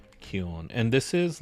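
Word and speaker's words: 気温: So we're going to put the hiragana here, and we're going to say kion.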